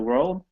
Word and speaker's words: world: two sound two uh so split the word in half so it's two sounds basically so it's were old world old world R World